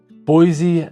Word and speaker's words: Boise: Boise has an amazing community and there's a pride with kind of living here and growing up here.